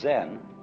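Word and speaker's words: 禅: This Zen which in Chinese is this character. Is a translation of the Sanskrit word jhana, and so this is being pronounced chan in Chinese and zen in Japanese.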